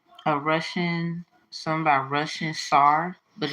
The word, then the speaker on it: Tsar: Russian something about Russian SAR but it's spelled like Star but mixed up TS a r Russian SAR Peter the